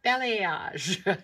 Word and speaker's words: balayage: Ballet, balayage.